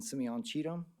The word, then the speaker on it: Simeon Cheatham: Today we're going to hear from Chief Louisi and Captain Simeon Cheetum. That is spelled Paulluizzi, and Simeon Cheetum is SimeonCheatham.